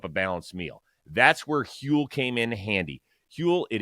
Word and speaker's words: Huel: want to talk to you about today's sponsor hule it is spelled hu L the global complete nutritional brand